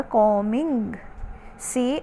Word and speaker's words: combing: रही है, कंघी, कॉम्बिंग, बी साइलेंट होता है कॉमिंग, COMBING, कॉम्बिंग, लड़की अपने बाल कंघी कर रही है।